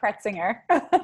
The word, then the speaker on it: Cretsinger: here with and i'm gonna let her pronounce her last name because it's so difficult it's kretzinger yeah there you go thank you hey uh